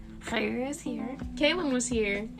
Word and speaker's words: Khairah: My Instagram and Twitter is Khairah_is_ here, and actually that's pronounced Khairah. Yes. So get it right. Get it right, bitch.